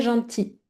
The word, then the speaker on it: gentils: Et les enfants, donc attention, pluriel, donc sont, et la prononciation sont très gentils, d'accord? Le L, oui, exactement, le L, on ne le prononce pas.